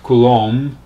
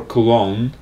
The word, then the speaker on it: Coulomb: Well, it's a French word, and in different places it's pronounced differently. I think British is more like Coulomb, in America is more Coulomb, but whatever it is, doesn't really matter.